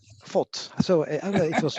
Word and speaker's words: Voth: I don't know how to pronounce it. Voth. Voth.